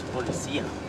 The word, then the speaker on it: policía: No, it's policía. Yeah, look at all of them. The accent is on the high.